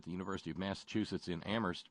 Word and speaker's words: Amherst: If you now here this is fairly new out, courtesy of research at the University of Massachusetts in Amherst, where only the H is silent.